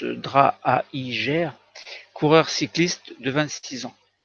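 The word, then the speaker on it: Draaijer: sur la santé c'est le décès de johannès draps alors ce beau roman prononce drâa higer coureur cycliste de 26 ans autre drame par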